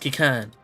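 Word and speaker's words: Qiqirn: Pronounced Kikern.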